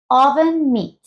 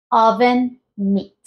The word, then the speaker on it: oven mitt: caso es oven meat oven Meet y la entonación está al principio en la o oven Meet oven Meet vean como